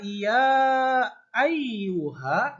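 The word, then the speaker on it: يا أيها: am ayyuhal Kafirun ah dikata Iya Ayuha Nah itu dibaca Mad Jaiz munfasil bacanya panjang ya karena Mad pada huruf ia bertemu dengan huruf hamzah pada kalimat yang berbeda ada juga musyaddah musyaddah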